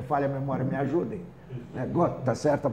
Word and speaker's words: Gott: Gott, está certa a pronúncia, então tá.